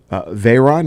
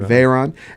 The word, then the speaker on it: Veyron: the Bugatti Veyron, is that how you pronounce it? Veyron, and the Koenigsegg, Koenigsegg.